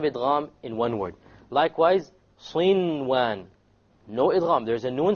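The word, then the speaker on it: صنوان: Likewise, sinwan. No idgham. There's a noon sakin followed by a waw. Sinwan, sinwan. You pronounce the noon. In this case, the ruling would be idhar. You make it clear.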